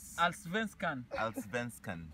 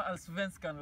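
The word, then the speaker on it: Allsvenskan: Alsvenskan. Sema Alsvenskan, Larry. Alsvenskan.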